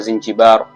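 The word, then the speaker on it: زنجبار: Na hadi leo Zanzibar kwa Kiarabu unapoiandika unaiandika Zinjibar, na utamkaji wake kwa Kiarabu inatamkwa Zinjibar.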